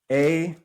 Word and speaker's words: Aita: It is spelled A-I-T-A.